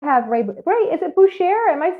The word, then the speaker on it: Boucher: Is it Boucher? Am I saying it right? Boucher, as in Bobby Boucher from The Waterboy.